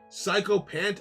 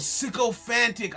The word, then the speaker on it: sycophant: others unclean Parts fair psychopant I see soccer fan a person who attempts to gain Advantage by flattering influential people or I see oh sycophantic eyes I was I pronounced it wrong and I confused myself mean like that's like sycophant okay I know I